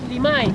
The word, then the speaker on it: Limay: Yes, but you pronounce it Limay because it's a Mapuche word.